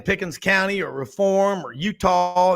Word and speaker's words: Eutaw: But Frank, what I love about Gary is he'll be out in Pickens County or Reform or Utah. That's EUTAW, not UTAH.